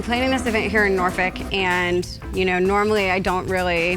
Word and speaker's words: Norfolk: Norfolk. Norfolk. Is that how you say it? It's how people in Norfolk say it.